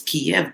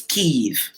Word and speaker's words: Kyiv: The old way of saying it was Kiev, but it's Kyiv. K Oh, Y because I I V. saw that. I'm like, where the It's Kyiv. I'm Kyiv. like, where? Kyiv is the Ukrainian pronunciation.